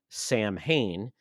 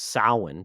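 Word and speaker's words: Samhain: introduced a character named Sam Hayne which they got the name wrong but it was sin basically it's the spirit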